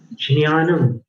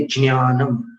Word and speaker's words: ज्ञान: प्राय करके हिंदी में ज्ञान बोलते हैं और प्राय करके मराठी में ज्ञान बोलते हैं, द से शुरू करके ज्ञान। और गुजराती में ज्ञान बोलते